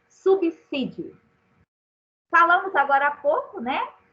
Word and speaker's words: subsídio: Na palavra subsídio, o S está entre duas vogais? Não. Duas consoantes. E quantas vezes a gente ouve as pessoas falando subsídio, não é isso? Então, aprendamos. A palavra deve ser pronunciada assim, subsídio.